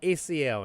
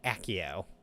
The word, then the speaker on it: Accio: I always called it ACO until the movies, and they called it Accio.